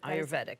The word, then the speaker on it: Ayurvedic: Ayurvedic, that's how you say it.